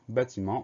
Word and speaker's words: bâtiment: Le son en s'écrit E-N, et on va trouver un T muet à la fin du mot.